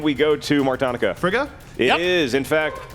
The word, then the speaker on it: Frigga: go to mark Tanika Frigga it is in fact Frigga my counter idea that is incorrect and I cannot accept an extra syllable in there yeah Italian GJ is